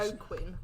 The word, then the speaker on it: Joaquin: Given it's a Spanish, Joaquin. as it's a Spanish name.